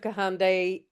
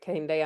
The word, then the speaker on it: Kahindi: I love the work of Kahande Andre. Yeah, he's amazing. He is amazing. Am I pronouncing his name right? Uh Kahindi. Kahindi right Kahindi Andrews thank you um I